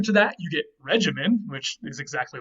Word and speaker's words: regimen: word regimen and again in latin all g's were hard so even though we would like to pronounce this regimen and we do today in english um this would have been regimen or something like that in latin now in latin this